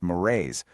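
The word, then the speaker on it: mores: That's m o r e s, pronounced morrays.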